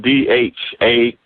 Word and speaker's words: dharma: google dharma it's not d-h-a-r-m-a it's not like karma but it's dharma d-h-a-r-m-a it's it rhymes with karma but you're saying from